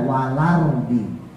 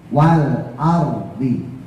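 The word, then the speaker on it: والأرض: Kadang-kadang orang bacanya wal arardi. Jadi lanya itu enggak jelas. Harus jelas L-nya. Wal ardhi.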